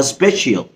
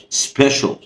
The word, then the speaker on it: special: دي برضو مشكلة المشاكل، أغلبنا بينطقها سبيشيال نو سبيشيال سبيشيال أوكي شول شول سبيشيال.